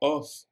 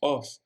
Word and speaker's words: of: Father o Power country pongan atención en la palabra off no pronunciamos off es más bien una o con una V fader of a were